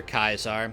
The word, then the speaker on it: Caesar: call the centurions centurions the way that one call Caesar kaisar that's how the legionaries pronounce it that's just a habit